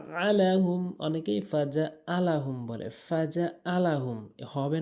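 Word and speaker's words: فجعلهم: এরপরে ফাজআলাহুম ফাজা আলাহুম, অনেকেই ফাজা আলাহুম বলে, ফাজা আলাহুম হবে না, ভুল উচ্চারণ।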